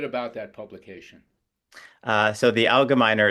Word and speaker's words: Algemeiner: And he's also an editor of the Algemeiner, and I'm hoping I pronounced that correctly. You did not. It's a hard G. Algemeiner. Algemeiner.